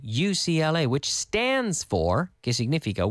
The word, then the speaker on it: UCLA: to do in Spanish usually we pronounce them as the letters the CIA the FBI he studied at UCLA we're not gonna say okhla we say UCLA which stands for kiss